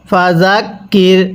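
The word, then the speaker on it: فذكر: Calf রজ কির ফাকির এই দালটা আমরা নরম করে পড়বো। অনেকেই জালের উচ্চারণ আর জিমের উচ্চারণ একই করে ফেলি। যার কারণে পবিত্র কোরআনুল হাকিম পড়াটা আমরা শুদ্ধ করতে পারি না। তাহলে কিভাবে পড়ব? ফাজাকির হামজা নুনজের ইন নুন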